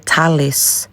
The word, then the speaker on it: Tulleys: papa sayang lagi pero sa lahala ang ilahang pag-pronounce ni Talis Talis Tulip field ma ni ang pinaka-number one